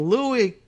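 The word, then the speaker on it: Louie: I always hear him just as Louis, but I don't think he says it because like French Louis. I think it's just, not a French pronunciation of Louis, but it's his preferred nickname.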